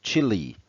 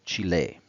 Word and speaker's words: Chile: First, and perhaps sounding a little bit odd, the English pronunciation is literally Chile, like in Red Hot Chili Peppers. Whereas in the language of the country, Spanish, such as in German, it's called Chile.